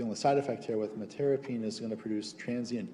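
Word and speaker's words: metyrapone: Metirapine, no, it's metirapine. Metirapine is how it's pronounced.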